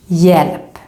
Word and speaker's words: hjälp: pronounce it like this, hjälp. So again, even if we write the H, we don't pronounce it.